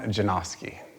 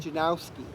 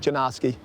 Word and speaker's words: Janoski: Stefan Janoski. And what pronunciations do you usually hear? Oh, Stefan, Steven, Stefan. What do you say for the last name? Janikowski? Janowski. Yeah, there's no W yet. Janoski.